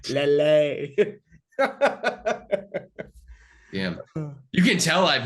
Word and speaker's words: Lille: It's Lele.